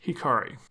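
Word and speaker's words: 光: Going back to the episode title, we see it written as the kanji for light, which is pronounced Hikari.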